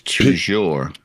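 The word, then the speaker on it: toujours: In French, it's tujour. Yeah. Okay. But in Canadian French, it's tou.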